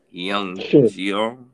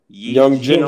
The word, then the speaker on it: Hyejeong: I am going to say this name wrong because it's an Asian name and it's spelled HYEJEONG Shin, SHIN. So, Young Jiong Shin. Is the H silent? Young Jin Shin.